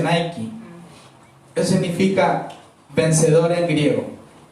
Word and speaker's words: Nike: La marca Nike y se pronuncia Nike.